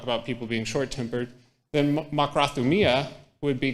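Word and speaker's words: μακροθυμία: Makrothumia, and hupomeno. So makrothumia is made up of 2 root words, makros, which is long, thumos, which is passion or anger.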